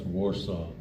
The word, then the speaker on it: Wausau: I was just going to point out that it's pronounced Warsaw.